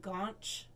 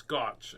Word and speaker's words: gotch: Now, okay, you pronounced it with an N, gaunch. Well, it's a gaunch is a prairie thing. It's gotch, actually.